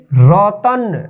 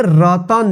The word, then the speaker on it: रतन: सबसे पहले उच्चारण रतन, देखिए रतन, लास्ट में न आ रहा है, इसमें अ की साउंड नहीं आ रहा है। देखिए यहाँ पे रतन, रतन, रतना नहीं पढ़ते हैं, क्या पढ़ते हैं इसको?